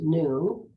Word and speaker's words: nun: The Hebrew letter nun, pronounced noon, don't you love it? I could say the Hebrew letter noon, pronounced noon.